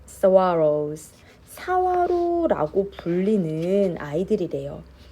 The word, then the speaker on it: saguaro: They are called, 이 발음이 좀 어려운데 saguaro. They are called saguaros.